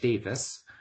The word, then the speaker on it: Davies: Jonathan Davis, spelled Davies, pronounced Davis.